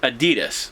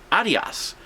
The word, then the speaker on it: Adidas: Next thing we sold was a pair of, most people would call it Adidas, but actually if you look at how it's supposed to be pronounced and how the rest of the world pronounces it, it's actually Adios. And that is how the person it's named after pronounces his name too.